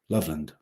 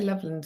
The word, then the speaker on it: Loveland: like one big weakness don't separate the syllables when saying it Loveland so say how can you say Loveland as one one syllable Loveland Leland Loveland love land love land is separate lovely land I'm gonna